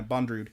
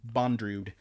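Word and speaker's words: Bondrewd: deity and I believe that's yes sorry yeah bond rude I've been saying boundaries like Andrew with a D in a bo at the beginning bond rude which is a weird name Hey japanese pronunciation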